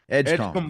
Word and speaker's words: Edgecombe: Chris, how do you pronounce his last name? VJ Edgecombe. Edgecombe.